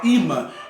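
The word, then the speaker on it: אמא: governo a palavra mulher palavra mãe em hebraico se pronuncia ima que quer dizer Fonte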